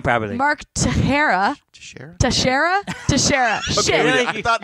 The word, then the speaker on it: Teixeira: Mark Teixeira.